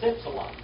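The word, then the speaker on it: ύψιλον: In Greek, it's ipsilon. Like that, ipsilon. In German, it's like that. How do you pronounce that?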